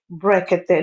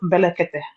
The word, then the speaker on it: Brekete: You will have known how to say Brekete, not Belekete.